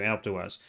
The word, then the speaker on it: Alpe d'Huez: and you want to go, and I want to ride Alpe d'Huez. I don't know how to say it. I'm terrible with French. Alpe d'Huez. Thank you, Alpe d'Huez.